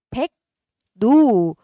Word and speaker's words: 백로: 백로 어떻게 발음할 거야? 백노. 처음에 리을 비음만 일어나고요. 그 다음에 어떻게 돼? 백노. 일반적 비음화가 일어나고요. 그래서 두 번 일어나는 비음화였죠?